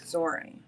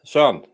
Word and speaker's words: Søren: It sounds like more like a Z sound, like Soren. You pronounce the R too much. Søren.